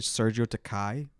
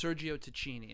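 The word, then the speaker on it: Sergio Tacchini: yeah i'm honest the fact that i said sergio takai this whole time and then you said sergio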